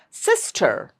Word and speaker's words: sister: Lot of people say it as sister R. No, it's not R. It's sister.